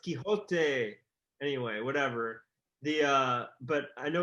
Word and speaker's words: Quixote: I think it's quixotic, but it's pronounced Quixote.